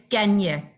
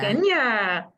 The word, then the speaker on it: Genya: It's Genya. Jenya, Yes, Thank you. pronounced like Kenya with a G.